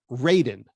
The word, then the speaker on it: Raiden: By the way, I pronounce it Raiden, just like in radio.